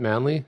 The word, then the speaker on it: Manly: Manly? Is that it? Oz? Yeah, Manly, New South Wales.